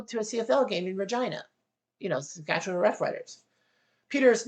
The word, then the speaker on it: Regina: Peter says, I have to move to Regina? It rhymes with a female body part.